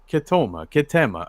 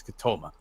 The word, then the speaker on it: Ketema: Yes, you all remember Ketema. Apparently, the pronunciation is Ketoma.